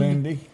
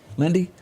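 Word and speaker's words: Paul Lynde: y'all remember Paul Lindy Paul you pronounce it Lind Lindy Lindy well that's the way ID pronounce it he when he had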